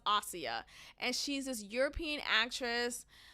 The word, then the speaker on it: Asia: is oia is spelled like Asia but it's pronounced AIA and she's this European actress I really don't